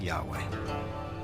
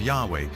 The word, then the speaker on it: Yahweh: So his title, in a sense, was God, and his name was these 4 letters, which in English would be YHWH, which we think were probably pronounced something like Yahweh.